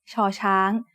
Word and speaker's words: ชอช้าง: As the initial sound of a syllable, it makes a sh sound. When it's the final sound of a syllable, ชอช้าง makes a T stop, just like ดอเด็ก.